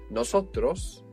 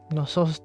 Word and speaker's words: nosotras: Nosotros is the word for we, for a male or mixed group. If you are just females, what do you think you might say? Nosotras.